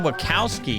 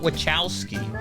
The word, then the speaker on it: Wachowski: wachowski sisters she said wakkowski not wachowski so has this been lying to us this whole time i thought it was with cows i knew it the